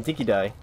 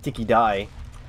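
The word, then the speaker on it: dinky-di: Apparently the Australian pronunciation is Dinky Die, but here they're saying Dinky D. So I don't know if it was a movie pronunciation for that word, but the Australian pronunciation is die.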